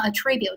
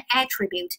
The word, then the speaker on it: attribute: 如果我要是读成 attribute 动词归因，如果要读成 attribute，那么重音在第一节，它就完